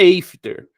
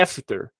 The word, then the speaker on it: after: porta é dor tá a letra A em inglês é ei ei seed então é ei disse Ei só que aqui nessa palavra não é eifter é After Aquilo é aqui é